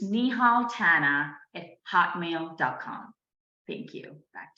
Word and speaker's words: Tanna: can definitely reach me on LinkedIn with nihal Tana I'll spell it for you it's